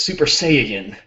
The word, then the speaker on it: Saiyan: First of all, Fabio, you said it wrong. It's Super Saiyan. Right. You forgot that middle syllable.